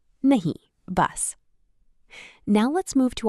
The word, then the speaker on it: nahi: In Hindi, we say nahi.